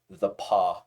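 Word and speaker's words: The Pas: The Paw, Manitoba. Straight up. What the? Paw, The Manitoba. Paw? Yeah. Like, how's that it's spelled? The space PAS Manitoba. What the Yeah.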